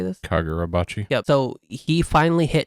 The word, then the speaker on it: Kagurabachi: Kagurabachi. How do you say this? Kagurabachi.